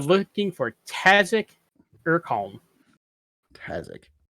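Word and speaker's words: Tazziak: uh you are looking for tassic or calm kasich kazak spelled like it sounds yeah t-a-z-z-i-a-k okay and he's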